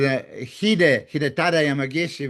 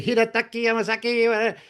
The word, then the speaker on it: Hidetaka Yamagishi: I know with Hidetaka Yamagishi, we were on the European tour, and they say Hidetaki Yamasaki.